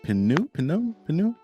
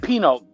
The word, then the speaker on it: Pineau: we have mr chuck pinup i know this too i know it's actually pronounced like the wine so it's pink now